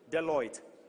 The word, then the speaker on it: Deloitte: del Eliot and Delhi on how do you pronounce it del Deloitte Deloitte and Simon as well and then partners